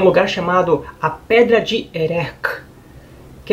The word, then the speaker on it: Erech: que é um lugar chamado a pedra de erek que é complicada de falar assim é meio